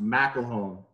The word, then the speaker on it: McElhone: Yeah, the last name is actually pronounced McElhone.